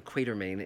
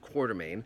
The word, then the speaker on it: Quatermain: No, it's Quatermass, just like it's Alan Quatermain in King Solomon's Mines, not Quatermain.